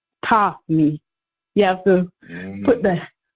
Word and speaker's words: Tami: Like Americans say Tammy, but Jamaican say Tommy. Tommy.